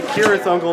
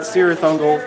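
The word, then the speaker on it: Cirith Ungol: A lot of people don't know it's technically Kirathungal, not Sirathungal, if you're going based on the strictly Tolkien pronunciation.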